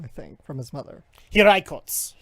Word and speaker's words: Hiraikotsu: and inherited the Hirikotsu, I think, from his mother. Hiraikotsu Hirikotsu.